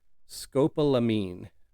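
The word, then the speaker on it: scopolamine: Uh scope scopalamine and it's spelled sc o p o l a m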